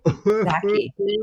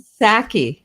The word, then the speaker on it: Psaki: Paskey announced that Biden will speak about Trump's role. Psaki. Oh. and Saki. The P is silent.